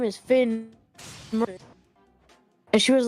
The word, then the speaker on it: Mertens: And then people would keep pronouncing it in Call of Duty lobbies as Finn Martinez. And I'm like, what are you talking about? Finn Martinez. Where are you getting the Martinez from? It's Mertens. And I don't know.